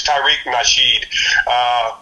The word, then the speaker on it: Tariq Nasheed: I'm sure I got his name wrong. It's Tariq Nasheed.